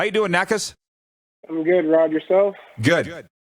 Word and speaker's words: Nakas: today from toronto the t-dot how you doing knackers i'm good rod yourself good am i saying